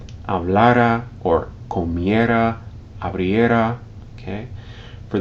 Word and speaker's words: hablara: Notice that when you say these forms, hablara, hablaras, hablarais, hablaran, you stress the second to last syllable, even though there's no written accent, okay?